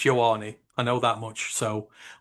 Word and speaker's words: Ioane: It is correct that no one uses his full name, Aleva Vega Ioane, but it's Ioane.